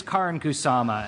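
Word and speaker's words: Karyn Kusama: to protect my director and her name is Karin kusama and I don't care if you know even even in Canadian it's Karin kusama I mangle the best of names um so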